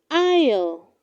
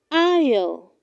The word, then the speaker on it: aisle: do not say i saw it is pronounced isle isle her husband walked her